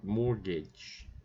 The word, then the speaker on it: mortgage: It's very strange to have that T in there, right? Mortgage. And we don't actually pronounce it.